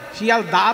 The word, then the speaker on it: শিয়ালদহ: শিয়ালদা তো নয়, শিয়ালদহ।